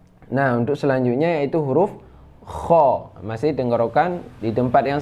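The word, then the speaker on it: خ: Nah, untuk selanjutnya yaitu huruf kha.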